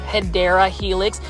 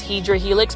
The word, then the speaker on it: Hedera Helix: the longest time, yes, I was mispronouncing Hedera Helix as Hydra Helix, but my viewers and